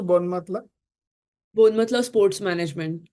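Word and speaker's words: Bournemouth: आठवतंय मला लंडन वरन बोनमतला कसं मी बोनमत बोनमत म्हणून म्हणायचंच नाही मी त्याला असं बोरने माऊथ असं लाईक स्पेलिंग जसं असतात तसं मी प्रोनाउन्स करायचे बिकॉज दॅट्स दॅट्स व्हॉट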